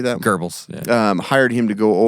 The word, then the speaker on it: Goebbels: Kraft probably didn't do much after that for the Nazis, but there's proof that this Goebbels, how do you say that? Goebbels, yeah.